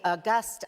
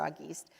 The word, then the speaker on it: Auguste: who is the uh See, Auguste, I used that, right? But that's not how you say his name. There's an Auguste conversation, but our panelist is Mr. Auguste, who is the co-founder of Opportunity at Work.